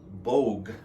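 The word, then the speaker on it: Boag: good read is by peter bogue i believe that's how you spell it or how you pronounce it b-o-a-g it's called redressing america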